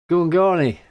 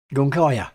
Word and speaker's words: Gungire: Or Gungari, that's it. Or something like that. Gungaya, that's pronounce it properly. It's Gungaya. That's it. It sounds very similar to gunfire, doesn't it?